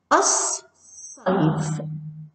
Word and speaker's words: الصيف: صيف تنطق الصيف الصيف، لا تنطق اللام الشمسية والحرف الذي بعدها ينطق مشددا أي مرتين.